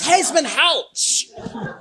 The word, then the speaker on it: Hesmondhalgh: Like everyone on the edge of the David Hesman out the gasps when they hear his name pronounced correctly. OH, IT'S HEZMAN HOUCH.